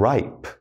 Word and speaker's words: ripe: long vowel I with a silent E. So listen to me as I say these. We've got plane, time, cape, hope, tube, bite, cute, and ripe.